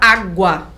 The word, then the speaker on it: água: o u saúde mas olha a palavra água na palavra água o u não aparece com certeza é verdade água o u som é fraquinho ninguém fala água é então água o u não aparece só aparece o a eh estas semivogais geram